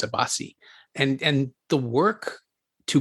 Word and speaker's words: Abbasi: yeah and I realize I mispronounced the director's name earlier it's not a boss it's a Basi and and the work